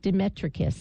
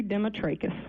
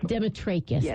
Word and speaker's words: Demetrakis: I'm so pleased to say hello to Demetrius hi hello Mary how are you well